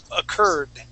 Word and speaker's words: occurred: Yeah, before you were pronouncing it with a T sound, saying occurred. Okay, but it's a D, okay?